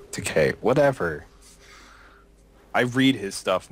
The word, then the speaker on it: Takei: Takei, it rhymes with toupee. Takei, whatever.